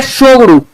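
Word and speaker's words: Tshogdu: आपको याद रखना है शो गुरु यहां पे टी साइलेंट है तो भूटान की संसद का नाम है जैसे सुनामी लिखा जाता है यहां पर आपका टी साइलेंट रहता है उसी तरह इसमें भी 30 साइलेंट है शो गुरु ठीक चलिए नेक्स्ट क्वेश्चन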